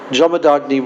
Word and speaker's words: Jamadagni: janma janma or we we didn't know how to pronounce it but actually it's jamama jamad jamadagni Rishi and Ruka now